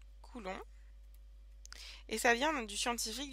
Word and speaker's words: coulomb: bien c'est le cool alors coulon ça s'écrit comme ça coulon et ça vient du